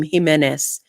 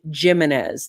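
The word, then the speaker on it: Jiménez: very clear to him he would not even pronounce his name jimenez he said jiminez that's how i learned my last name jiminez and it was very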